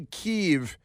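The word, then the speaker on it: Kyiv: you're going to say keev if you're going to pronounce Kev keev because that's how some of the locals do then you have to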